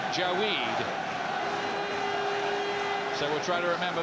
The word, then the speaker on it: Jawaid: He's improved fast as Jawaid Khaliq. That's how he says we have to pronounce it, not Jawaid, Jawaid.